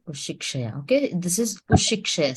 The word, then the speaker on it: उशिक्षया: So like the K, because there are two together K. So when you are blending it, it is not K together. It is not K two K's pronunciation. Ushikshaya. This K and S is together pronounced.